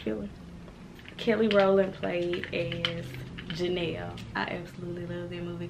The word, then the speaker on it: Janelle: No, it's Janelle. Kind of like Chanel, but with a J.